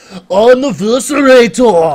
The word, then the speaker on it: Anniversarator: It's not like that. It's Anniversarator. I'm the Anniversarator. Yeah. Anniversarator. Yeah, you have to think of it more like Arnold, more than like...